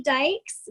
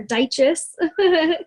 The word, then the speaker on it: Dyches: hi my name's dykes dykes d YC h es people pronounce it all the time or digests its Dyke's um I have a